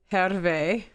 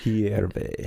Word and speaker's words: Hierve: This place El Hervé. Am I saying it right? Hierve. Hierve means the water boils.